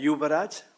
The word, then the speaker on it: Yubaraj: so I know how to say it uh yubaraj y u b a r a j that's